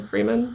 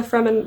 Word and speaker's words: Fremen: think because the fremen and i pronounced them freeman before but the fremen were really cool to